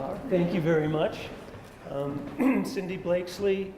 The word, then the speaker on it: Cindy Blakeslee: Cindy Blakeslee is, am I pronouncing that right? Yes. Yes. Mm-hmm.